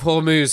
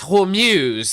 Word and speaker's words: Hormuz: Uh, and I mean, yeah, the way that they pronounce the straight of Hormuz is wonderful. Sometimes it's Hormuse, the straight of Hormuse, or sometimes it's the straight of hummus, straight of hummus, hummus.